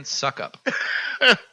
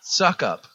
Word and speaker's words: Succop: Also, Tampa Bay Buccaneers kicker Ryan Suckup.